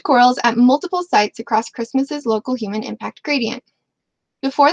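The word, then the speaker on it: Kiritimati: like curatti it's pronounced Christmas because the ti makes an S sound in kabos here here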